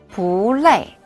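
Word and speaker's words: 不累: 아빠 피곤하세요 바레마 불레 안 피곤 해요라는 뜻입니다 뿌 뒤에 위에서 아래로 내려오는 음인 레이가 와서 뿌는 올라가는 음으로 발음하면 됩니다 이렇게요 불레 안 피곤해요 보레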